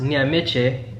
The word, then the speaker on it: Nyamik: Secondly, my name is Nyamik. It's pronounced Nyamiche in Ghana.